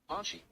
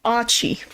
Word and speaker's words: Achi: Archie. Really? It's literally... So his name is Achi. That's how his name is said, is Achi. So almost like ouchie.